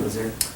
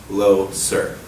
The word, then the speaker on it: Loser: How are you doing, Loser? I'm doing well, Lang, and it's pronounced low, sir.